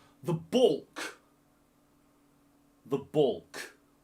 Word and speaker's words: baulk: It is called the baulk. The baulk. The baulk. Like ball with a K on it, but that's not how it's spelt. That's just phonetics.